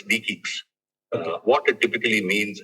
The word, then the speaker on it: DE-CIX: It is pronounced with a K. So it's DEIS.